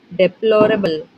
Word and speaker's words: deplorable: The word deplorable has stress on. Options are: Option 1. The first and the third syllables. Option 2. The second syllable.